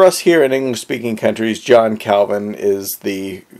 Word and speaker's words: John Calvin: kovon but for us here in English-speaking countries John Calvin is the correct way to pronounce his name now 1509 places Calvin relatively